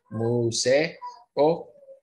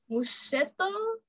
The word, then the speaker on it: museo: we have learned that we have 2 vowels together, we separate them and pronounce them apart, right? Meso. Museo. Museo. Uh-huh. Visite un meseo. Visite, no. Visité. Visité un museto.